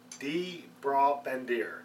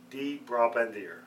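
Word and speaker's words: De Brabandere: The name of the brewery is, and I hope I'm going to pronounce it right, D-Bra-Bandeer. So it's D-E-B-R-A-B-A-N-D-E-R-E. So I call it D-Bra-Bandeer. Probably a little bit, not pronouncing it entirely correct, but you get the idea.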